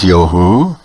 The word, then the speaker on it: Yah: When properly pronounced, the name Yah will be recognized in the universal word of praise to Him, namely Hallelujah, meaning praise be unto the Father Yah.